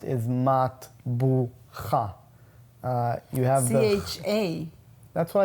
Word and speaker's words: matbucha: The way it's pronounced is matbucha.